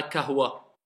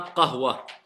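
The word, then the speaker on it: قهوة: Ne dites pas je veux un kahwa. Je veux un qahwa.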